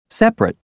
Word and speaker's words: separate: aspirin separate chocolate family the first e in interesting the first I in Aspirin the first a in separate the second o in chocolate and the i in family are all dropped so that you hear